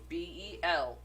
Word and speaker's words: Belphegor: is literally how it is pronounced. You went too fast. Sorry. Belphegor.